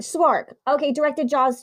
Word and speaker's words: Szwarc: Oh, it's Jeannot, Jeannot, Swark, Szwarc. So he directed Jaws 2. So he Jeannot came in. Right. Swark.